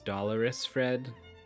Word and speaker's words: DolorousFred: DolorousFred. Oh, it's this guy. And Xelo. DolorousFred. I just want to remind everyone it's DolorousFred. Dolores is like an old lady's name.